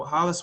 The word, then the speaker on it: Hollies: brooklyn park mayor and my name is spelled h-o-l-l-i-e-s so hollis for brooklyn park mayor